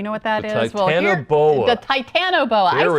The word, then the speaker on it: Titanoboa: Delaware do you know what that is the Titanoboa I said it wrong measuring 48t long and